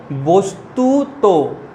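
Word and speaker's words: বস্তুতঃ: এরপর দেখো, যদি বস্তুতর পরে বিসর্গ থাকে তখন কিভাবে উচ্চারণ করবে? ওকার রূপে। শেষে শেষ বর্ণটায় ওকার যোগ করবে। কি রূপে? বস্তুত, বস্তুত।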